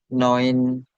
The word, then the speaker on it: neue: kan EU ya, lagi ya Oh, EU. Oi ya dibacanya. oh, Nah, iya. tinggal diganti neue.